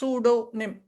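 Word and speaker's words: pseudonym: அந்த பி வந்து சூடோ, அந்த பி வந்து நீங்க ப்ரொனவுன்ஸ் பண்றதே இல்லை. எழுத்து யூஸ் பண்றோம். எஸ் தான் யூஸ் பண்றோம். சூடோ நிம். எங்கெல்லாம் பி எஸ் அப்படி வருது, PH வரும்போது நம்ம PH ஃபான் தானே நம்ம சொல்றோம் இல்ல, அந்த பி சைலண்ட் ஆயிடுது.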